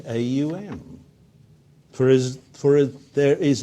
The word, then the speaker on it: Aum: in sort of warning the aum is never pronounced in normal conversation as its word always a um and if you think